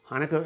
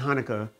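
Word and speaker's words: Chanukah: u k a h that c is silent and so then you just have the rest of the word but you notice that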